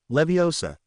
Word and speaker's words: Leviosa: wiard DM Leo saw make the gar good and long and put the stress on the o in Leviosa not the a weas all but threw